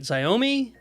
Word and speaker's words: Xiaomi: Phone manufacturers like, I think I'm pronouncing this right, Xiaomi?